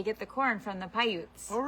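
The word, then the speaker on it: Paiute: And we are on um how do you pronounce it? Pyute land. Pyute. Pyute.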